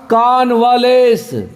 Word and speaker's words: convalesce: देखिए के पहले नीचे लकीर है, इसका मतलब के पे हल्का जोर पड़ेगा, मीन्स नहीं के बराबर पड़ेगा। ए के आगे दो बिंदी है, तो मैं बार बार बोल रहा हूँ उसको कि आ ए करके के आगे बोलेंगे। अगर ए के आगे दो बिंदी रहेगा तो आ करके बोलेंगे। और देखिए V और L के ऊपर लकीर है, जिसका मतलब L पे जोर देंगे तो क्या पढ़ेंगे?